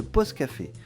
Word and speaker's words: P'Aus Café: ce secteur plutôt rural il s’appelle pause café ça s'écrit P apostrophe a u s café a US pour osodel bien sûr il vient